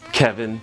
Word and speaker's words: Kevin: So, Mr. Kelvin, can you go over your work history a little bit? It's Kevin, sorry.